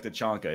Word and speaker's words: T'Chaka: It is like it's T'Chaka, I think. T'Chaka. Like, okay, there you go. Yeah. But they say it like T'Chanka in the movie.